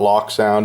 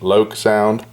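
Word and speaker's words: LokSound: rivet counter version with uh the installed esu lok sound sound decoder and yes i said lok sound most people mispronounce it it's not lock sound it's loc sound but anyways say it however you want uh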